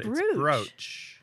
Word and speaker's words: brooch: you i have one it's spelled b-r-o-o-c-h how do you say that word b-r-o-o-c-h i just say brooch you say bruce well but there's broach